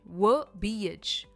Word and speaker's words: verbiage: इसकी प्रोनाउंसिएशन है वर्बिएज. वर्बिएज. व पर इसका स्ट्रेस है, पर इसका मतलब क्या है?